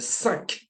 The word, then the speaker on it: cinq: So the Q at the end of cinq, okay? The cinq. Make sure you pronounce the K sound.